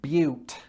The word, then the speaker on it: beaut: i point out that this word is pronounced but and it's probably quite an appropriate pronunciation because buttes are often